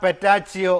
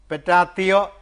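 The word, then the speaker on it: Petacci: ഒരു വെപ്പാട്ടി അവളുടെ പേര് ക്ലാര പെറ്റാച്ചിയോ എന്നാണ് പെറ്റാത്തിയോ എന്ന് അതാണ് ശരിയായ ഉച്ചാരണം ക്ലാര എന്ന അവളുടെ പേര്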